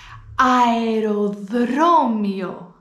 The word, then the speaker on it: αεροδρόμιο: Η δεύτερη λέξη έχει 2 φωνήεντα στη σειρά, τα οποία προφέρονται και τα 2. Αεροδρόμιο. Αεροδρόμιο.